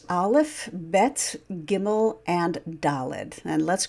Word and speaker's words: Bet: So when you have the letter Bet with the dot, the dagesh, in the middle there, it's pronounced as English B, B, B, B.